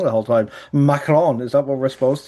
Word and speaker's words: Macron: Macron, is that what we're supposed to?